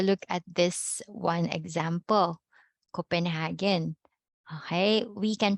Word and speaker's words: Copenhagen: pronounce this correctly or when you hear this native people their residents there they pronounce this as copenhound copenhound so what happened